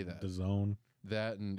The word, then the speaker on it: DAZN: DAZN. That, and it's distributed by ESPN and that. DAZN, really? Yeah. Like calzone? That's how I've heard it pronounced.